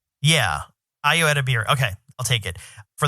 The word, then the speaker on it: Ayo Edebiri: How do you pronounce her name? Ayo Edebiri? Yeah. Ayo Edebiri.